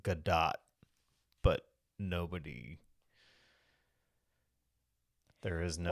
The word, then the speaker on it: Gadot: Gal Gadot, and it's actually pronounced Gadot, but nobody.